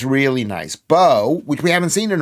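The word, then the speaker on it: Beu: Am I pronouncing your name right? Bo, B-E-U. Bo. It's good.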